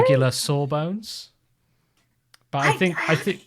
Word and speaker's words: sawbones: regular sawbones. But I think we tend to say saw as in like, ouch, that hurts. It is sore. As but opposed to it's phonetically, saw as in got you.